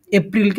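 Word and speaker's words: April: not March March তারপরে এপ্রিলকে আমরা সবাই এপ্রিল উচ্চারণ করি কিন্তু এটা সঠিক উচ্চারণ এপ্রল ওকে এপ্রল তারপরে এই মে একটু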